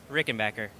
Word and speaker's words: Rickenbacker: So I'm with Richard, and we're going to say the official how you say Rickenbacker.